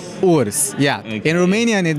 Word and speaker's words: Urs: But first of all, can you please pronounce your name for us? It's Urs. Urs, yeah.